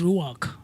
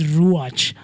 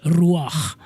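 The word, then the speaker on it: רוח: the origin of the origin of the word is Hebrew and the ch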